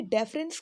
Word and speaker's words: deference: आप इसको थोड़ा सा प्रोनाउंसिएशन भी इसकी अलग है, लाइक डिफरेंस बोलते हैं आप उसे, जो अंतर के सेंस में आता है, और इसे हम डेफरेंस बोलेंगे, बिल्कुल लाइट।